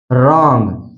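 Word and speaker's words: wrong: silent होता है जैसे रंग आ से पहले डब्लू आया इसलिए यहां पर डब्लू साइलेंट है सीधा पढ़ा गया रंग इसी तरह है राइट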